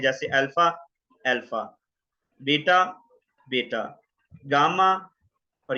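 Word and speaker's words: alpha: जैसे अल्फा है तो फादर के अंदर आ, फा, फादर, फादर, तो आ की साउंड देगा ये अल्फा, फादर।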